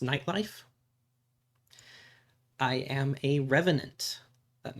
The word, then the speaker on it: Nyte Lyfe: It's spelled N Y T L Y F E. It is pronounced nightlife.